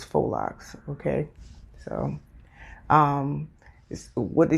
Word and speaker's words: faux Locs: word is full locks I know it looks like it says Fox because it's a a u and an X in there but the proper term is faux Locs f-o-h foe okay so